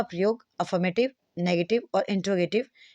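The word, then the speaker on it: interrogative: प्रयोग affirmative, नेगेटिव और इंट्रोगेटिव में एक साथ प्रयोग किया जाता है। अब अगर हम बात करें, एक तो इस प्रोनाउंसिएशन को देखिए, आप इसे इंट्रोगेटिव कहते हैं, ना कि इंटेरोगेटिव, इंट्रोगेटिव, ठीक है।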